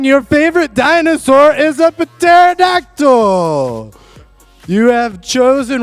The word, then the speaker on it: pterodactyl: your favorite dinosaur is epiterodactyl you have chosen wrong i the p is silent he's telling me the